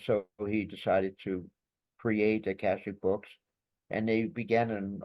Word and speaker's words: Akashic: It's published by Akasha. Am I pronouncing it right, Ron? Akashic books, Akashic.